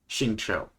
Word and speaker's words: Xingqiu: I always pronounce his name wrong. Xingqiu? Xingqiu.